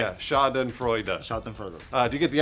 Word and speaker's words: Schadenfreude: Pronounce it correctly for me, Lawrence. That was it. Schadenfreude. Bruce nailed it.